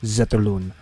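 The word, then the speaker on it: Zetterlund: social media account and they asked him how to say his name in his native language right and it's Fabian zeton so Fabian zeton gets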